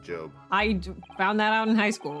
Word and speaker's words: Job: Usually I'm the one that has to tell people it's pronounced Job.